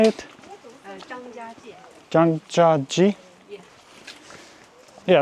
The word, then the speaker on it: Zhangjiajie: Zhangjiajie.